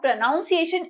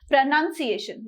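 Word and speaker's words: pronunciation: करते हैं इसको प्रनंसीएशन इट इस नॉट प्रोनॉन्सिएशन इट इस प्रनंसीएशन देखो मैंने इसमें भी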